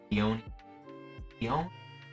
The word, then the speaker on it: Iono: Iono. I always pronounce it Iono, but that's another rare.